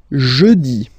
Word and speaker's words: jeudi: Next one, jeudi. Jeudi. Remember, when you combine this E-U, you get the sound E.